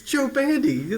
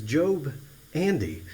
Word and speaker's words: Job Andy: He said, well, you got his name wrong, son. I said, well, what was his name? He said, well, the guy had two names in one. It was Job Andy.